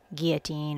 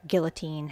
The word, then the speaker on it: guillotine: have busted out the big guillotine or guillotine however you say that i've heard it pronounced both ways so i think both ways are okay i'm using score tape